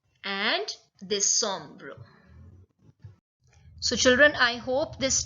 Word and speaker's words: décembre: But the pronunciation is absolutely different. So September is septembre. October, octobre. November, novembre. And December is décembre.